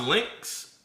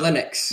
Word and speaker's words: Linux: So, is it is it is it pronounced Lynx? Uh Linux.